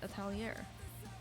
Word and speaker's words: Atelier: Yeah, and I started reading Witch Hat Atelier. Atelier, yeah, that's how you say it.